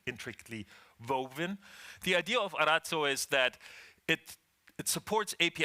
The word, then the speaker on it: Arazzo: Just 2 weeks ago, we announced a new specification from OAI, which is called Arazzo. Now, I promise I will say it like this, Arazzo, because it's an Italian word.